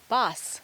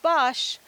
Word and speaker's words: bos: ink housing herrings boss is another word for Woods or Forest sometimes it's written in longer form the Dutch pronounce it boss not Bosch house 10 boss that's